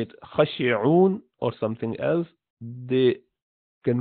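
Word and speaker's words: خاشعون: So it is khashi'un. So you're saying khashi'un, although you're not seeing alif there, but you're pronouncing that alif, and hence that is small alif sitting at the top to hint to that.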